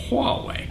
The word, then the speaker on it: Huawei: by Motorola Samsung LG Huawei that's how you pronounce that Huawei Android is all about openness and I get